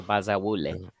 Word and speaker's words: Bazawule: a lot of African names like that are very easy to pronounce because I pronounce them like they're Spanish. Ah, gotcha. So Bazawule.